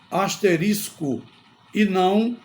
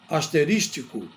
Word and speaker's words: asterisco: de algum autor então a pronúncia correta é asterisco e não asterístico outra palavra que se